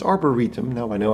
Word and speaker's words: Arboretum: So it's Arboretum, now I know how to pronounce that.